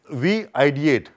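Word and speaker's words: VID8: Or we ideate, V-I-D-8. It's pronounced as we ideate.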